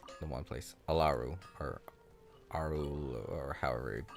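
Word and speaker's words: Aaru: He's one of the people that went insane, and lives in whatchamacallit, the one place, Alaru or Aru or however you pronounce it. Aru, yeah.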